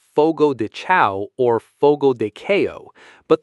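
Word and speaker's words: Fogo de Chão: The third syllable sounds exactly like the word you use when a bill or payment is expected immediately, which is do, duh. The final syllable is the entertainment performance or movie you watch at a theater, which is a show, show.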